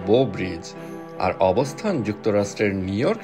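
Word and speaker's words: Bow Bridge: প্রেমিক প্রেমিকাদের অতি পছন্দের এই ব্রিজটির সঠিক ইংরেজি উচ্চারণ আসলে বো ব্রিজ, আর অবস্থান যুক্তরাষ্ট্রের নিউ ইয়র্ক শহরের সেন্ট্রাল পার্কে।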